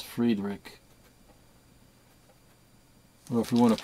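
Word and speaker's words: Friedrich: want to call him Frederick but it's not Frederick it's Fredick or if you want to pronounce it the German Way it's Fred fredr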